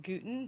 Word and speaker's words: Gutin: my name is Linda guten gtin it rhymes with Putin brought up whatever that's